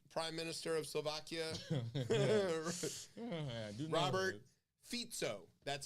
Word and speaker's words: Fico: minister of Slovakia Robert fito that's how you pronounce it it's not FICO like your credit score it's fito fito yeah spelled FICO